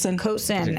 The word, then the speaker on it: Coulson: Coulson? Coulson.